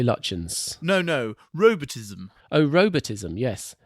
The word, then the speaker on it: Lutyens: Have we ever established how that word is pronounced? I say Lutyens.